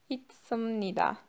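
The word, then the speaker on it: 있습니다: Okunuş kuralıydı. Bunu D olarak okuyorduk. İsim Nida diye okuyoruz.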